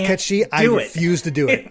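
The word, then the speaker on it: Cait Sith: of context what was kate sith up to yeah it's it's still wild to me that it's actually pronounced cat she i can't do it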